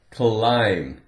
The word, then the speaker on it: climb: Climb. Now this sounds like if we make a contraction with the word I am, I'm hungry. Climb. That's the word. The B is silent.